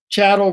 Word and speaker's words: chattel: word chattel to slavery chattel rhymes with cattle and sometimes we think